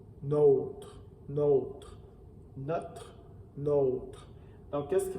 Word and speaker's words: nôtre: qui me demandent souvent est-ce que l'accent circonflexe sur la lettre O influence la prononciation dans ce mot-là oui dans notre région on a une prononciation qui fait la différence entre le déterminant neutre et le pronom possessif notre donc ici je vais vous le prononcer pour le déterminant notre notre et le pronom possessif note notre notre donc qu'est-ce